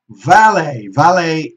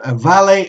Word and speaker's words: valet: Valet, in this case, both valet and valet are accepted as pronunciation for the valet, the person who parks